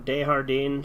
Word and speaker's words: Desjardins: Dude, his last name rhymes with sardine. Desjardins, sardine, Desjardins.